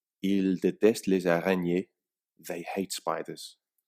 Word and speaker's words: détestent: We've added an nt to the ending, but the pronunciation is identical.